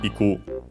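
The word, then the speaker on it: 行く: with verbs of movement, like in our case, iku, unaccented, which means to go.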